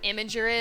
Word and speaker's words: Imgur: you guys know what imager is I am gee you are that's how I pronounce it some people like imager or something I call it imager i M gr but recently I made